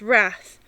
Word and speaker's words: rath: and pronounce it and pronounce wrath to rhyme with bath and as i promised